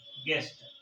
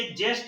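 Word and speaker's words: guest: गेस्ट कैसे लिख आएगा जी ई एस टी गेस्ट जबक य जेस्ट हो जाएगा लेकिन रियल जो स्पेलिंग है वो इस तरह से है गेस्ट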